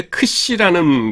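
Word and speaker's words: ξ: 이게 크시라는 것으로서 키읔 발음하고 그 다음에는 시옷 발음을 같이 가지고 있는 겁니다.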